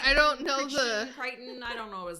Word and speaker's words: Crichton: Crichton. I don't know how do you say his Yeah. name. Michael Crichton.